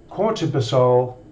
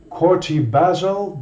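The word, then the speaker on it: corticobasal: he's been diagnosed with quarter basal degeneration that's not how you pronounce that courty basil degeneration well it's a neurological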